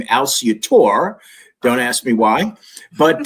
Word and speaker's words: Alciatore: The family pronounces the name Alciatore.